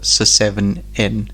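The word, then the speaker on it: Se7en: Or Seven. Yes. Okay, yeah. It's spelled SE, the number 7EN. Yes. But yes, it's pronounced Seven.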